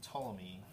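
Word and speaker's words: Ptolemy: Yeah, it's it starts with a PT which is always weird.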